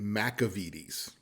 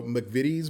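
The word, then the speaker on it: McVitie's: video that you saw I kept calling it mcavides and that is not the correct pronunciation at all so since we filmed that I discovered that it's actually pronounced the vidis so mcvitty's brand digestibles you can find them all over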